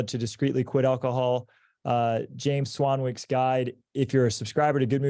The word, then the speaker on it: Swanwick: My last name is actually spelled Swanwick, but it's pronounced Swanwick.